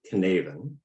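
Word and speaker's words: Cynefin: what do you think this is so it's pronounced knaven which obviously that'd be it right uh so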